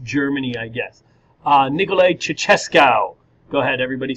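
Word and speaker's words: Ceaușescu: along with East Germany I guess uh Nikolai chesco go ahead everybody say his name chesca good um he is the head of the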